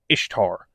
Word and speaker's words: Ishtar: and this fertility goddess her name was pronounced very similar to Easter it was Ishtar basically pronounced Easter just not quite spelled the same but this goddess